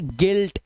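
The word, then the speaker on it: guilt: ई कर देना है जैसे यहां पर देखिए यू आई आया हुआ है लेकिन यहां पर इसका उच्चारण होगा ई का तो इसे पढ़ेंगे गिटार इसे पढ़ेंगे गिल्ट अब यहां पे यू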